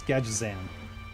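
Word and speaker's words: Gadgetzan: You pronounce it correctly. I think not. Scott, it's Gadget Xan.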